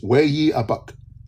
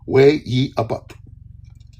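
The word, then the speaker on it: ויאבק: And then wrestled is Way-ye-abuk. Way-ye-abuk. I can spell it for you. Wayyeabeq. So it's a wordplay where all 3 words sound like each other.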